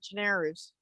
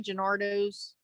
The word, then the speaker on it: Gennaro's: I always get the name wrong when I say it. You know, what's his name? Who Gennaro's? Yeah, that's it, Gennaro's. I always some say Gennardo's. You know, I always mix it up.